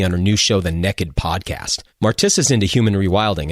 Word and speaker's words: Nekkid: If you're interested in hearing a conversation about race and modern American hunting, check out episode 3 of the Naked Podcast. That's spelled Nekkid, and the episode's called So You Want to Hunt and Gather.